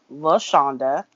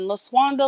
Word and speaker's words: LaShonda: It is spelled LeShawnda, but I do not use the first two letters because people cannot pronounce my name with the first two letters. I have been LaSwanda, LaHonda, LaShawanda.